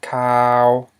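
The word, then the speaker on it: ຂ່າວ: which means white, but now we have cow, which means news, and this is a mid-tone.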